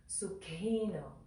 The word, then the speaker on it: sukhino: the next word sukhino so that that letter that looks like a Canon H it's actually one letter and so it's pronounced so you can kind of get the feel of it if you say something like thick honey honey thick honey that helps our Western mouth feel the right pronunciation of that K and the H next to one another so it's Sookie no Sookie no Sookie no